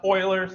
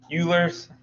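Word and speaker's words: Euler: So, um pronounced oilers like a can of oiler. If you pronounce it ulers, I don't really care.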